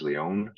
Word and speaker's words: Lion: Last name's Leon. Like you said, it's spelled like lion, Lion.